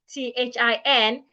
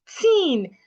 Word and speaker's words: thin: Most people would app would articulate t h i n as tin. Pronouncing the t and h like a t tin. The lady is thin. Instead of the lady is thin. Can you see the difference? The lady is thin. Wrong.